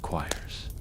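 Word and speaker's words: quires: The first step in binding is to organize the individual sheets into choirs, pronounced choirs.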